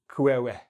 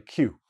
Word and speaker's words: queue: So this is not kwewe. Nobody says kwewe because nobody will understand what you're saying. This word basically means Q, or is pronounced, sorry, Q.